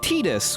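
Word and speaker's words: Tidus: And so I learned that it's actually pronounced Titus, which sounds bad.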